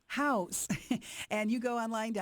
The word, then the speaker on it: Houzz: it's spelled h u ZZ house and you go online